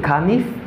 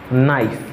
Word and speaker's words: knife: Because when you say kanif, when you say knif, it's wrong. Li pa bon. Who di sa? But just say knife. Knife. Because the letter K in this word is not pronouncing.